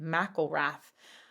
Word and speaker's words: McIlrath: by the way I looked up how to pronounce his name and and him is saying it mcelrath would never have thought that just from the